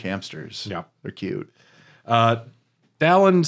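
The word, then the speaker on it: Dalan: Dallin says if you want to break into the palace, you're going to need a sunstone. And this Pronounced is Dylan.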